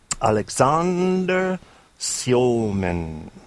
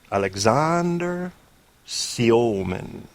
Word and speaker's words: Alexander: Alexander Siomen. Alexander Siomen.